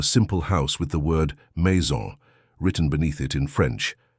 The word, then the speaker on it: maison: "That's pronounced maison," Sophia said, sounding out the syllables slowly.